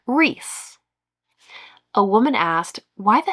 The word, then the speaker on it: Rhys: I read it rice. She But it says, "My son is named the spelling like Reese."